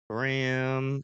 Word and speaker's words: Graham: I've seen Graham before Graham no it's spelled like graham cracker right yeah you're on